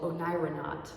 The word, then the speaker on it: oneironaut: explorer has a word it's called onyranat and it's spelled o-n-e-i-r-o-n-a-u-t kind of like an astronaut isn't that cool it